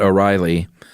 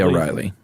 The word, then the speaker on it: O'Rahilly: And I heard him speak his name in court when they asked his surname, but he said it so quickly, it sounded like a dolly.